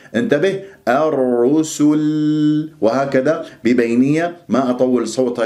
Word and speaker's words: الرسل: يكون عندي الرو، الرسل، ولا أفخم السين أقول صل، لا سو، الرسل، ولا لما أقف باللام لأنه راح تسكن اللام ما أسحب ضمة السين قبلها وأقول الرسل، نطقت اللام ولا زالت الشفاه مضمومة، هذا من الأخطاء الشائعة، انتبه الرسل، وهكذا ببينية